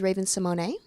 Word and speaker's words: Raven-Symoné: So my correct pronunciation of my name is Raven-Symoné, So we just did.